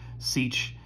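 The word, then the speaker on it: sech: the names of these we pronounce this kosich siege and coth i know that might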